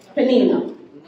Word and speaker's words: Peninnah: The name of the other, Peninnah. Peninnah. How do you say it, Pastor? Peninnah. I'm Jamaican. I pronounce a hard I.